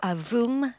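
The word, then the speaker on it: AVUM: We call it the AAM or Avoom, uh, pronounced in French, getting ready to switch on its engine.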